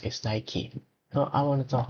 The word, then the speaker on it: Nike: search it and the pronounce and the correct pronounce is Nike.